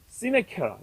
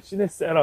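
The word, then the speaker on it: sincera: 또 라틴어로는 시네케라, 옛날 라틴어는 C를 크 발음하는데 요즘에는 세라를 시네세라 하는데 밀랍으로 칠하지 않았습니다.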